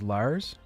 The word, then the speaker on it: Lars: the Lark spawn got to say his name right it's l it's Lars so that's a typo then cuz it's Larks